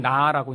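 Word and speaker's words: נא: 히브리어는 나라고 읽는 아주 짧은 단어인데요, 사실 하나님이 아브라함한테 제발 이렇게 해주렴.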